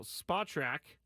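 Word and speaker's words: Spotrac: himself in a in a new market now spot track SPO t a yes it's pronounced that some guy told me that one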